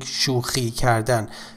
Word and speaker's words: شوخی کردن: Pay attention to the pronunciation of this to the pronunciation of this letter, which is خ, and خ does not exist in English. So if you're an English speaker, you need to be extra careful while pronouncing this letter.